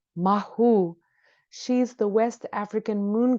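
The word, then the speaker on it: Mawu: others inite about environmentalism the goddess Mau pres pronounced mahu she's the West African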